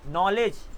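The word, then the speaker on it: knowledge: कहीं पर भी के एन मिल जाए तो एन साइलेंट हो जाता है, सिंपल सी, के साइलेंट हो जाता है और उसकी जो साउंड निकलती है ना, जैसे नो, नॉलेज, नाइट, जिसका मतलब होता है शूरवीर।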